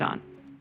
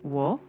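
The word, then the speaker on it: を: O marks the direct object, what's being acted on. De shows the place of action or means. No shows possession or relationship. Ni marks time or direction. And yes, wo, often pronounced o, also marks the object, similar to o.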